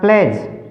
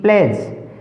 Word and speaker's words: pledge: जैसे एग्जाम्पल देखिए जरा, प्लेज, PLEDGE प्लेज, प्लीज नहीं बोलना इसको, प्लेज, क्योंकि डी साइलेंट है।